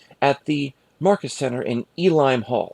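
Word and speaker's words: Uihlein: the Market Center in Elim Hall. I know it's kind of spelled like Ulim Hall, but that's German or Deutsch for you.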